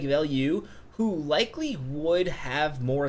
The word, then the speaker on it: Veilleux: Now, this doesn't have a picture here, but Xavier Veilleux, I believe it is Veilleux. Correct me if I'm wrong. I'm pretty sure the announcer said Veilleux. I think this is for French pronunciation.